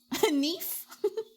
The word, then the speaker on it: knife: Knife. Yeah, it's knife and a knite. Huh? Exactly. You don't pronounce the K.